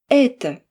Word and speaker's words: Это: Dans ce mot, c'est le premier et qui est accentué. Il est donc long et fort. Et on sait que le o non accentué se prononce comme un a. Mais attention, il ne faut pas que ce A soit trop marqué. Il doit être très court, bas et effacé.